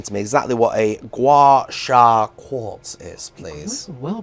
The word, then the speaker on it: gua sha: So I'm hoping you can explain to me exactly what a gua sha quartz is, please. Well pronounced.